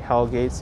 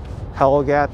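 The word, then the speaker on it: Hell Gate: Oh, so Cody's saying Hellgate's a mispronunciation of Norwegian word. Helgat, that means the mouth of.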